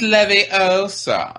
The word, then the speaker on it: Leviosa: was half and her it's Leviosa not levy else are see that's better than